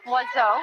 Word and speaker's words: oiseau: you have words like oiseau, which uses 2 vowels in pronunciation and has every vowel in the alphabet in the written word.